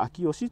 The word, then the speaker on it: 麟祥: ておりましてどの人名辞典もですね臨床として紹介しておるんですがこの秋吉という読み方が正しいみたいなんですねほんと本来